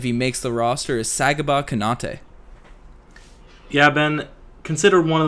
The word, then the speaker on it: Sagaba Konate: That is Sagaba Konate.